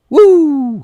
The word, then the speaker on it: Wu: But it's spelled Drago? W-U. Woo, yeah.